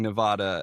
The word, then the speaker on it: Nevada: at unfortunately because I moved there saying Nevada and they had they had to give me the nail on the chalkboard speech and I was like, you mean you guys are pronouncing it incorrectly? You're not supposed to if you can't change a vowel if it has two vowels. You don't just change the sound of it.